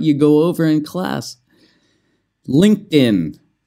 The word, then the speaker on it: LinkedIn: go over in class LinkedIn it's not linked 'add in or something like that the pronounciation linked in LinkedIn and it kind of sounds like din so move the D